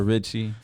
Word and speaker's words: RXCHY: Richie or is it Ricky or am I saying it wrong or what's going on no my nickname has always been Ricky but I kind of turned into Richie like my artist name right and why